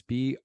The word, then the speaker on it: Bruery: It's called The Brewery, but it's spelled a little different. It's Bruery.